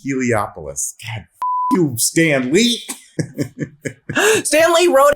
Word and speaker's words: Heliopolis: come from celestial holopolis is it halapoulos or heliopolis heliopolis you stan lee stanley